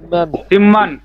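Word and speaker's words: 십만: সিম্মান সিম্মা। সিম্মান সিম্মান অর্থ 1 লক্ষ। সিম্মান। সিম্মান অর্থ কি? 1 লক্ষ। নিয়মটা খেয়াল রাখবেন, এই যে বিয়োগের পরে মিয়ম আসছে, এজন্য বিয়োগের উচ্চারণ ম হবে, সিম্মান।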